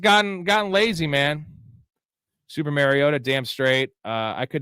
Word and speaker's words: Mariota: Super Mariota.